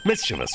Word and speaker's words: mischievous: that mischievous girl mischievous mischievous right it's not mischievous that's a common mispronunciation I think people do cuz there's no second eye in it she reported that